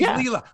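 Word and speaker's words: Leylah: and you know but now that i've heard her say her name i have made the switch in my head now i have two she's leela fernandez she's leela but of course and i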